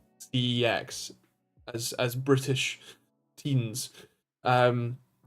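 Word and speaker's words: CeX: ex's Channel they say it should be called sex or like said pronounced like a c and then an e and then an X which we have all pronounced c x as as British teens um that yeah they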